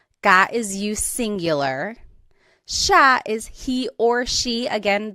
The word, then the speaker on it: siya: And again, just to point out the pronunciation, it looks like it should be pronounced siya, but it's usually pronounced siya.